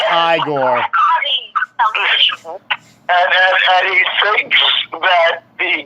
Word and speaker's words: Igor: So when Igor brings the rain, It's pronounced Igor.